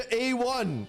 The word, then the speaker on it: A1: Some people called it Aone. They're like, it's pronounced Aone in Japanese. It's like, it's Anime 1, you moron. It's Anime 1 shortened to A1.